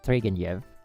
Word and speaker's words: Turgenev: And then like someone told me the pronunciation is Turgenev. Because they're like, the NEV is like a Yev.